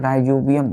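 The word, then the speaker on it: Rhizobium: नाम है जैसे बच्चों राइजोबियम बैक्टीरिया राई जो बियम बैक्टीरिया बी स्मल सी टीई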